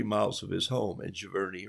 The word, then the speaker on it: Cheverny: of his home and Cheverny or sure Bernie as they say in France or France depending on